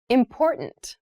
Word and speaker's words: important: The pronunciation of this word that first T is actually reduced. It sounds more like a D in fast speech.